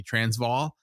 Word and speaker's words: Transvaal: Transvaal, is that close?